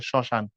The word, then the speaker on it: শ্মশান: মফলা যুক্ত হওয়ার কারণে মফল আবার সবসময় উচ্চারিত হয় না। যেমন শ্মশান লিখলে শুরুতে মফল আছে। শ্মশান উচ্চারিত হচ্ছে না। কিছুটা নাকের ঝোক পড়ে আর কি।